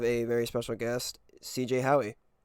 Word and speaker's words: Howey: What did you say? You said Howie. Yeah, you got it.